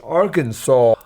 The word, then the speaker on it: Arkansas: In Arkansas, Arkansas must be pronounced Arkansas. Okay.